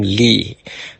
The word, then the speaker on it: Li: Okay, so that's with strawberries, and I learned this from Dr. William Lee, L.I., not L.E.E., William L.I., okay?